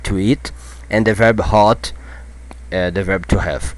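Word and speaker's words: האָט: are going to see hot oh I'm sorry hot hot you have to pronounce this strong hot okay some people will pronounce OT that's why I said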